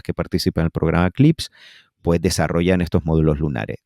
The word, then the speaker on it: CLPS: Y la NASA hace unos años creó un programa que se llama CLPS, CLIPS, lo pronuncian ellos, que es básicamente intentar